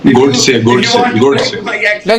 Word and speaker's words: Godse: Please learn to pronounce all Indian names properly. Yeah. No, I am saying the right name. The Godse. Yeah, that is his name. Godse. Like it's not Kulbhushan Jadhav.